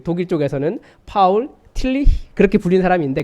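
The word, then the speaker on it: Paul: 진리 곧 모아 봐 다른데서는 폴 틸리 뭐 이렇게 불리는 사람이 있어요 이 사람이 그 독일계 같아요 그 친 2회 라고 익으면 독일 발음 이거든요 그런데 앞에 폴도 파울이 라고 읽어야 되요 파울 틸리 그렇게 읽어야 되는데 앞에는 영어식으로 폴이 라고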